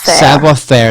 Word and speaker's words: savoir faire: promote those people so so Sabo fair if you don't know it's it's hard for pronounce to pronounce and we're trying to do a lot to brand the Sam savoir faire it's French yep it's French and it means well-spoken